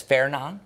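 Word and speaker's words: Fernand: And yeah, the next one is Fairon. By the way, you do not pronounce the D.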